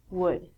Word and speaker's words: would: All of these L's are silent. So it sounds like should, could, and the thing that we get from trees, would.